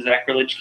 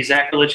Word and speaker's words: Zachrilege: I know I say it's sacrilege with a Z, but there actually is an H in there. Lovely. So like the Zachrilege cast page on Facebook,